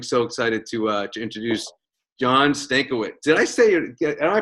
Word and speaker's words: Stankiewicz: And I am so excited to introduce John Stankiewicz. Did I pronounce it right? Stankiewicz, right? Stankiewicz, yeah.